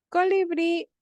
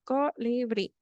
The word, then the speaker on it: colibrí: si se dan cuenta tiene tres sílabas colibrí Pero dónde tiene el acento a chicos me responde uno lo llamo por por por haer en la última sílaba en la última sílaba Y si tiene acento en la última sílaba en bri muy bien Emily H me dice sí mi es aguda muy bien es aguda Entonces